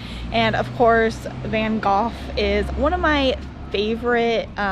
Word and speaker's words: Van Gogh: not gonna try but I do just like the sound of Van Gogh better and it sounds a little bit more correct than the American way so that's why I'm going to say it like that van Gogh also painted